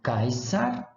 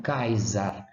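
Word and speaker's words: Caesar: pocitos posição pocitos Então vamos lá kaysar não kaiza caça on Case casa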